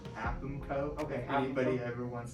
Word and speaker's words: AAPMCO: The acronym for the business is technically pronounced AAPMCO.